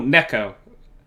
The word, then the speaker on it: Neko: Well, no, Neko, Well, not Nico. how do they pronounce it? Neko means cat in Japanese.